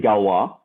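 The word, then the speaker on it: Galois: written uh you know the french they don't care about uh how letters sound they just like i feel like i want to put an ois here and pronounce that as wah um but that was his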